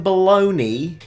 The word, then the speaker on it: Bologna: I understand that a lot of Italian words finish with N-I and are pronounced ni, like panini, Armani, but there is a G-N-A. How on planet Earth can that be bologna?